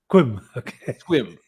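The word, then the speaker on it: Sequim: somewhat hard to pronounce take a guess at how you'd pronounce the city here s-e-q-u-i-m it's pronounced swim um and it's um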